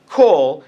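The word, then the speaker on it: כל: learn to read Hebrew you're told that the t-bar the Comets is pronounced ah but in the word for all coal it's pronounced oh kool and your explained well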